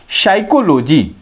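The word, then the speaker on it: psychology: अब नेक्स्ट आइए पी पी का आप देखिए पी का मात्र एक ही लेटर है वह है एस एस के पहले यदि पी आता है तो क्या होता है पी हमेशा क्या रहेगा साइलेंट होगा ये बहुत कम वर्ड आते हैं जैसे आप देखेंगे साइकोलॉजी पी एस वाई सी एओ एल ओ जीी वाई साइकोलॉजी आप देखेंगे पी एसवाई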